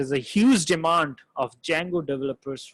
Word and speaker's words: Django: in Python flask and Django D is silent here guys right we just pronounced it a Django be silent right these